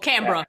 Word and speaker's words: Canberra: So Or yeah, Canberra. That's how you pronounce it.